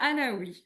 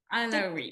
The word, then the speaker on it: Allaoui: my name is Allaoui. Alarie. Alaoui, yes. Alarie, did I pronounce that correctly?